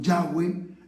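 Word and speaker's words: Yahvé: es el nombre real los estudiosos de lengua hebrea cree que la pronunciación más correcta el envió haber sido changüí por eso yo digo yagüe en lugar de jehová entonces te sugiero que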